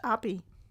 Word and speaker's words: Aibi: I when we see AI, but no, apparently it's pronounced Aibi.